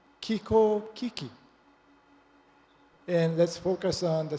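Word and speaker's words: 気候危機: It's pronounced Kiko Kiki.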